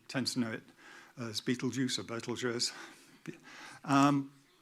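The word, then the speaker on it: Betelgeuse: pardon uh yep so Beetle Juice Beetle guys Beetle JS ble J however you want to pronounce it it's that one um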